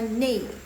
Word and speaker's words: 那: Jadi ini kan pinginnya na gitu kan. Tapi mereka suka bacanya nei. 老师 nggak pakai 声调 lah ya. Nei. Jadinya NI.